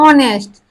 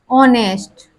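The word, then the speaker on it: honest: हमने साइलेंट कर दिया यानी कि एच नहीं बोला जाएगा हमारा प्रोनाउंस आता है यानी कि उच्चारण आता है ऑनेस्ट क्या आता है ऑनेस्ट इसी तरह आवर आवर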